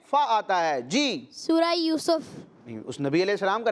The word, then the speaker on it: یوسف: اچھا بچوں، اس کو بعض لوگ یوسف پڑھتے ہیں، سین کے اوپر زبر پڑھتے ہیں، تو یہ درست تلفظ نہیں ہے، اس کی درست پروناؤنسیشن کیا ہے؟ سین کے اوپر پیش کے ساتھ یوسف۔ کیا ہے؟